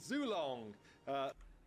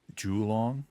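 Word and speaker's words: Zhulong: In fact, he's Zulong. I know it's like a running joke that Simon mispronounces everything, but as far as I'm aware, it's pronounced Julong. ZHU is pronounced like Ju, like Julong.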